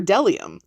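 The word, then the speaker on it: bdellium: to have a feast b is for dellium we doubt anyone knows what dellium is but it's the only word weird enough to begin with a silent b c is for czar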